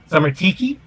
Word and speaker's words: Sarmatici: Or I don't think they'd use CI in Latin. So it's Sarmatici, right, Arlen? Hard C. Oh, it is. So it is Sarmatiki. Yeah, I guess something like Sarmatiki.